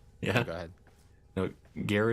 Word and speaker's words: Gara: No, Gara is pronounced the same way you pronounce Gara from Naruto if you're into anime.